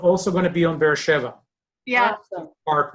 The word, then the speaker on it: Beersheva: Sometimes I see the word, take me a moment to realize, oh, it's Beersheva, especially when in English they're saying Beersheba, you know, they're like making it a B instead of a Va.